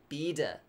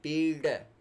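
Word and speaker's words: pīḍā: So pīrdāsana, not pīda, but pīrda. Can you hear that? If I say pīda, and if I say pīrda, so this pīrda is the correct way to say.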